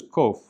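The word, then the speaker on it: ק: Then there's kof, which in modern pronunciation just makes a hard K sound, but we represent it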